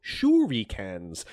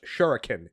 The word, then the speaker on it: shuriken: Their secret weapon were these giant armorpiecing stars called shuriki cans. As Espio appears from behind her from his invisibility, saying it's pronounced shuriken Amy.